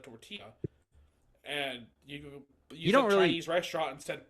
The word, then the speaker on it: tortilla: in my head saying somebody saying torella instead of tortilla and you Chinese restaurant